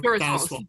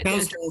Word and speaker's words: Faswall: Well, Durasol or Faswall. Yeah, Faswall is the American version.